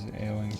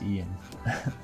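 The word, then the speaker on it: Eoin: Sixth book written by what's his face, Eowyn Colfer. I think his name's actually just pronounced Ian. It's spelled way differently.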